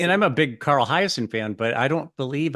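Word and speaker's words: Hiaasen: I don't know how to pronounce his name. Carl Hyacin. Oh, Carl Hyacin.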